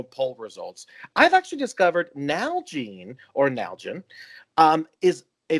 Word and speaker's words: Nalgene: on the episode because el pity pronounced this thing called a nalgene bottle now i call it a now gene bottle and what i've discovered